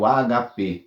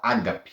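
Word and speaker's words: ἀγάπη: do grego é o HP né na verdade o grego não tem acento então nós temos o hábito de falar Ágape mas é HP é então uma palavra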